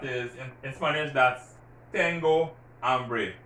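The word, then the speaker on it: hambre: tango ambry you see i'm not pronouncing that h because remember that age is silent tango ambry i'm hungry i'm thirsty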